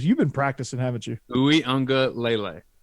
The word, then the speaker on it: Uiagalelei: they lose Trevor Lawrence, but I mean, DJ Ungulolele is, and I'm pretty sure I butchered that. Ungulolele. I've really worked hard. Ungulale. You've been practicing, haven't you? Uiagalelei. Uiagalelei.